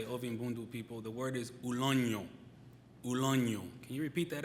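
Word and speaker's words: uloño: The word is ulonyo. Ulonyo. Can you repeat that after me? Ulonyo. It's spelled U-L-O-N-O with a tilde over the N.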